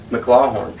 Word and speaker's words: McLawhorn: spc-tv and early mclaughlin how do you pronounce that last name mclaw horn how do you spell it h o m-c-l-a-w